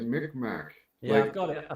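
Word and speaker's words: Mi'kmaq: yeah Wikipedia it's pronounced people pronounce it as Mick Mack yeah I've got it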